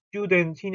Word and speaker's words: Studentin: 자, 요거 발음할 때 독일어의 st나 sc하나 st가 붙어 있는 건 이런 걸로 시작하는 단어들은 전부 다 st 혹은 c가 아니고 슈 이렇게 시작합니다. 그래서 이것도 studentin이 아니고 studentin 하고 studentin.